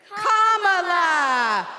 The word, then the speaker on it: Kamala: common in a sentence then you say la like la la la la la put it together and it's 1 2 three comma all right so let's